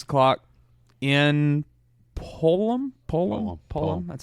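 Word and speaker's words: Pullman: Oregon State, Washington State, 6 o'clock in Pullum. That's how you pronounce it.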